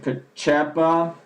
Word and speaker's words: Pacepa: And basically, this guy, Pacepa, this is how you would pronounce his last name.